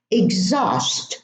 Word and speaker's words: exhaust: Exhaust, not exhaust.